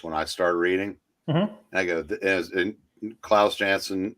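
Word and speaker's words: Klaus Janson: on the Defenders when I started reading I Claus jansson J how you pronounce it yep was the anchor on that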